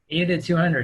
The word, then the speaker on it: 80-200: 80 to, how do you pronounce it? 80 to 200? 80 to 200, yeah.